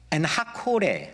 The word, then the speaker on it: 엔학고레: 그래서 거기를 엔하꼬레라고 불렀는데, 엔은 우물이고 학고레가 아니라 원래 발음은 하코레. 네, 콜, 영어로 콜이 뭐죠? 불렀다는 거잖아요. 콜. 히브리어도 똑같아요. 어떻게? 네, 콜입니다. 그러니까 엔하코레, 하코레는 부르짖는 자라는 뜻입니다.